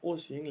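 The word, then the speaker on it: осень: visto, en esta palabra o 100, la O está pronunciada como O debido a que está acentuada esta sílaba, o 100.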